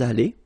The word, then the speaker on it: allés: Nous sommes allés. You don't pronounce it. Okay, but you write it. Nous sommes allés.